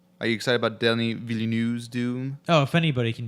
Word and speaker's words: Villeneuve: I think it's Villeneuve. Villeneuve. That's how I've heard it pronounced on like Director Roundtable or But something.